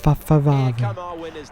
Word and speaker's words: Ferrari: Yes, Ferrari. You have to say it like Hannibal Lecter and his father beans.